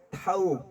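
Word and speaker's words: תו: 예 자음 맨 끝부분에 타우 타라고 발음하는 그 타우의 뜻은 타부의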